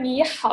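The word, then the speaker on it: 你好: okay better after yeah so for the first word me how you you see that there's like me it's this third time so you pronounce like me and how it's also the third time so it's how yeah so if their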